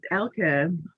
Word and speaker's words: Elke: Nope, it's not that either. Oh. It's Elke. Elke, okay. And I always say that I don't even really know how to pronounce it because it's a German name and it has this German sound at the end of it that American English does not. And so it's really something like Elke. I can't do it.